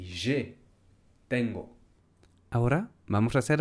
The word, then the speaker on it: j'ai: No, se dice j'ai 35 ans.